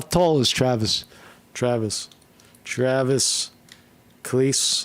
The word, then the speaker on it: Kelce: Travis Cleese will not be joining Taylor Swift at Grammys.